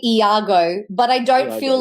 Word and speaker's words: Iago: I've always had like different pronunciations. I tend to say Iago, but I don't feel like that there's a preference personally like e either or for me is fine.